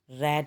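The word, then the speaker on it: read: Number 7, Sana रेड the Holi Quran, रीड की second form रेड होती है, स्पेलिंग वही होते हैं लेकिन पढ़ते रेड है।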